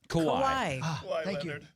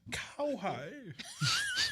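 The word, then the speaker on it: Kawhi: Kawhai. Kawaii.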